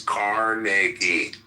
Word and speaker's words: Carnegie: more than I respect Carnegie. Or very greedy. And okay, so. Well, pronounce his fucking name right. It's Carnegie.